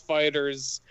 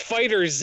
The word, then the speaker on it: FighterZ: is saying it's not you don't pronounce the Z no no it's because it's because they it's because Namco came out and said like yeah it's fighters but like you capitalized